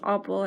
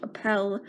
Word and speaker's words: Oppel: I've heard it passed Oppel I've heard it pronounced Appel I say opal so I'm sorry if that's not pronounced properly the best selling offer